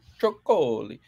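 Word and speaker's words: Trócoli: There's a little thing above the O. You gotta say it. Tricoli.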